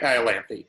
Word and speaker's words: Iolanthe: It is Iolanthe. Yes, Iolanthe, I believe yes. is the pronunciation.